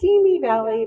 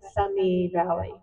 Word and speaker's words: Simi Valley: She's also written and partnered multiple books, which was presented earlier, and tells us really how to say not Simi Valley, but Simi Valley.